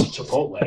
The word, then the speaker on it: Chipotle: And my roommate was just like, "You it's Chipotle." You know, I was like, "You know what? No, it's spelled that way."